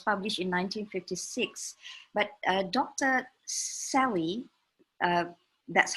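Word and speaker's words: Selye: life it was published in 1956 but Dr Sally that's how we pronounce it talks about stress from physiological perspective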